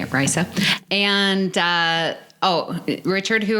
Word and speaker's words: Risa: on uh Risa that's how you say it Risa and uh oh Richard who are the uh